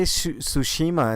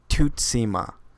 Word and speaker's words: Tsushima: can't get right no they'd say Tsushima and that's not it because I watched the video they pronounced it there is how you're supposed to pronounce it though I watched the video of the developers and he said something like to SEMA yeah that's something you